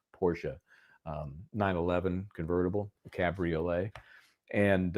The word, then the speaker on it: Porsche: a Porsche um and it is two syllables, Porsche, um 911 convertible, Cabriolet.